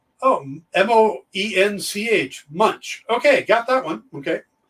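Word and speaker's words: Moench: and it was quite really like oh m-o-e-n-c-h munch okay got that one okay that would be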